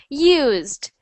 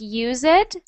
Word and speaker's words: used: Used. Good. Used. So, try not to say it like use it. Use it. It's always used. Used.